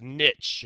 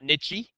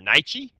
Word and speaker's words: niche: Habitat versus niche. And that word right there, Nihe is pronounced niche. Not nichy. Okay. Or niche.